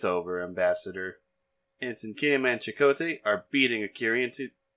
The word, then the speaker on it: Chakotay: stubbornly refusing chuckle Tay they pronounced a weird in the simulation by the way chuckle Tay instead of Chakotay Chakotay tells the prisoner